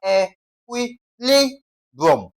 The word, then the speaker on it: equilibrium: Now, in this case, what is the second to the last syllable? We have e qui li brum. B r i u m is the last syllable. Which one comes before? Li, right? So, we have what now? E qui li brum. So, li stressed.